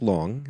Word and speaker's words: Long: say who rodk is because not everybody wck Wong yeah yes he just said the name wrongly but it's okay so uh Wang we yes like meline Khan here so uh so anyway Rodrick long uh Professor philosophy uh heed down at Auburn